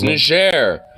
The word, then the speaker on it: Niger: It's Niger.